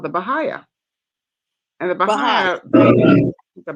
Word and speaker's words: Baha'i: So I kind of connected with a group called the Baha'i.